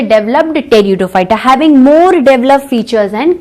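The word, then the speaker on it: Pteridophyta: टेरिडोफाइटा। क्या होगा students? टेरिडोफाइटा। टेरिडोफाइटा। आप बोलोगे पी टेरिडोफाइटा होना चाहिए, नो, पी इज साइलेंट। क्या है? पी साइलेंट है।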